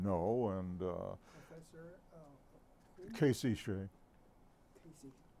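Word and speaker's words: Hsieh: Casey Shea. Casey. I may be mispronouncing his name. H-S-I-E-H. Yeah. I see. Say.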